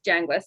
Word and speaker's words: Yanguez: I think my last name's already posted on there, but it's pronounced Yanguez, nothing like it looks.